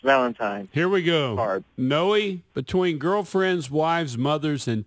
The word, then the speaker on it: Noe: Noe, yes, sir. You pronounce the E. Yes, it's Noe. Yes, it is Noe.